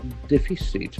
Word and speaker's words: deficit: Trade deficit. That's a very interesting word, D E F I C I T. So here we have three syllables. Deficit. Deficit, accent on the first, so the first syllable.